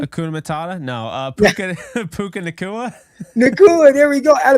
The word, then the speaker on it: Nacua: No, Puka Nacua.